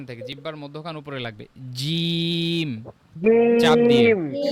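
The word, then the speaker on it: ج: শক্ত জিহ্বার মধ্যখান থেকে জিহ্বার মধ্যখান উপরে লাগবে জিম চাপ দিয়ে খ খ খ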